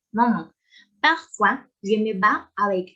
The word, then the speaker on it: maman: Attention à la prononciation nasale, maman.